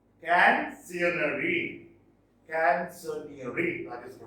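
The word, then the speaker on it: Canzoniere: Canzonieri. Canzonieri. Canzonieri. That is the pronunciation.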